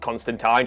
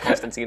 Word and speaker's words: Constantine: Yes, it is pronounced Constantine. Just look at any comic. Please stop telling me it's pronounced Constantine. It's not.